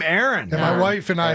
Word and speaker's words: Aaron: How do you pronounce the name Aaron and with two A's and the name Aaron with an ER? Pretty similar. I do it the exact same. It's Yeah. Aaron. It's It's just Aaron.